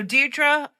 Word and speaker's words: Deirdre: But Deirdre's not a great name to pronounce because it's the RD.